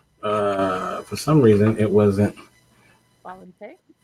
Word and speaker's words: Xbalanque: X is silent, and I think QUE is K, right? So Why is it? Okay, finally. For some reason, it wasn't. Valente.